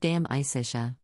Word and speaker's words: De Amicitia: We finished Livy and De Senectute and are now engaged with De Amicitia, pronounced Dam Isitia.